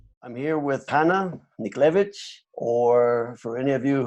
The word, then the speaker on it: Niklewicz: It's a lot better than Niklewicz. It's Niklewicz. Niklewicz, with that little ch at the end, right?